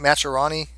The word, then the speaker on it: Majorana: I always call it Majora. But okay, how do you say it? Majorana. Majorana.